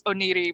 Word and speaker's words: Oneiroi: I'm pretty sure it's Oneiroi, but I don't speak fluent Greek, so...